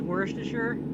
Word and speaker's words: Worcestershire: Are you sure is Worcestershire?